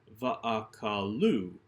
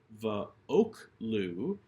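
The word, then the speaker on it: ואכלו: This is important to realize because this is not va-ok-lu, with a short O underneath the aleph, but still the long A, komets, va-a-ka-lu.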